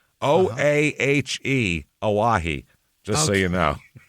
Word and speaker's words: Oahe: We have the, how do you pronounce this? I wrote it down. Oahe. Oahe.